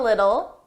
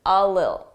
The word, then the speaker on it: little: iation a little little native speakers we don't pronounce T's between two vowels it will be either a very soft D Little D D little or you just won't hear it l l a little